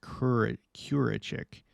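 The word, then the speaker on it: Kürecik: In Malatya, the Turks surrounded and stormed the American military radar base, Kurachik. Oh, that's how it's pronounced. Kurachik.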